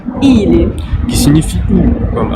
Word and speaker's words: Или: rien à voir avec le N, je le reprononce, c'est un I. И. Comme par exemple dans le mot ili, Или.